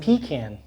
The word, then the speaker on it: pecan: it pecan? Pecan? Well, or the way I pecan? say it, the way I pronounce it is like butter pecan, Puerto Rican.